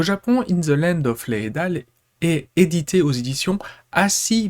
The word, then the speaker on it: Leadale: Donc oui, ça va se prononcer Leidal, ou Leidale si vous voulez éventuellement, j'ai repris la prononciation qu'il y avait dans l'animé.